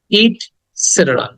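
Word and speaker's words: et cetera: উচ্চারণ হবে ইটস সেটেরা ইট সেটের ইট সেটেরা সেটের সেটের এটাকে দ্রুত বলতে হবে এখানে শর্ট সাউন্ড ইটসেটের ইটসেটের ওকে এটাকে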